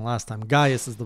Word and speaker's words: Gaius: I pronounced it wrong last time. Gaius is the right way.